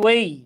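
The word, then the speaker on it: weigh: আচ্ছা আসেন তাহলে আমরা লিখি, আবারও বলি ওয়েই, এটা উচ্চারণ হচ্ছে ওয়েই।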